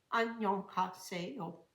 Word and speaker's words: 안녕하세요: For instance, in Korean, if I understand correctly, the greeting 안녕하세요, 안녕하세요. If I try to pronounce that in the English way, it would be 안녕하세요 with a lot of extra sounds.